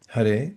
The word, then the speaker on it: Hare: And Hare, that's how it's pronounced. Hare, the spiritual energy of the original conscious source.